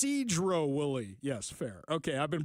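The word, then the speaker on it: Sedro-Woolley: from the 360 Ari it's pronounced Cedro Wily yes Fair okay I've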